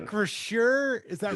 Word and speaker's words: Acrisure: I don't even know how to pronounce it. Acrisure, is that right?